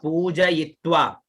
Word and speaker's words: पूजयित्वा: हाँ, यित्वा, ई नहीं होगा, ये होगा, ई का उच्चारण हो। अपन का क्या ई का उच्चारण होता है, किसी का क्या उच्चारण होता है, पूजयित्वा, है ना, पूरा उच्चारण होगा यित्वा, पूजयित्वा। इत्वा इत्वा नहीं, या में ई की मात्रा है तो ये या ये, पूजयित्वा, इत्वा इत्वा पूजयित, हाँ, या में ई की मात्रा है तो यित्वा।